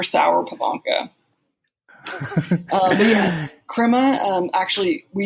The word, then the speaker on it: Sauer-Pivonka: You pronounced it right on. Sauer-Pivonka.